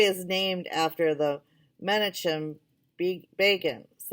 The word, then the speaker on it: Begin: The highway is named after the Menachem Begin, said Isabel, pronouncing begin as Begin.